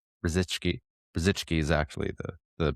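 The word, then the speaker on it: Brzycki: It's edited by Matt Brziki. Brzichki. Brzzichki is actually the the pronunciation. It's it's a Polish last name.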